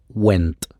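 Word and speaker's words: Wente: condenser o de condensador, inventado específicamente por Edward Went. El apellido se escribe W E N T E.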